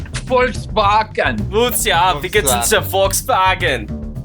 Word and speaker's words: Volkswagen: It's Volkswagen in regular English, and then Volkswagen in German. Volkswagen.